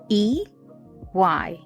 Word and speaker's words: Eyidara: I'll spell that real quick for you. EYIDARA.